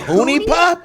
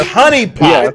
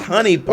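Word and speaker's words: HuniePop: You call it Hoonie Pop? Why'd you say It's Honey Pop. Yeah. It says H-U-N-I. It's Honey Pop. It's pronounced Honey Pop.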